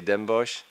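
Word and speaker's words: Den Bosch: middle-sized Dutch City with a difficult name to pronounce but the soccer team is called dembosch so you may say dembosch it's a city of euronymus Bosch or he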